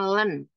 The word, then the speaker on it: ln: logaritma natural ya berarti disingkatnya LN terus ini berarti bacanya Len Len X Jadi kalau Len